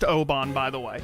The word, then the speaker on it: Aubin: I cannot believe this is pronounced Oban, by the way. Oban. I thought for sure it was Aubin.